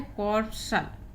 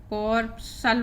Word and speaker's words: corpuscle: जैसे ये एग्जाम्पल दिया हुआ है CORPUSCLE, इसको मैंने उच्चारण आपको लिख रखा है कॉर्पसल, कॉर्पसल पढ़ेंगे इसको, सी साइलेंट है, इस एस का उच्चारण हो रहा है तो कॉर्पसल।